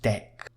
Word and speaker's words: deque: Well, you can use a double-ended queue, which is pronounced dec. You can see here with dec we can append the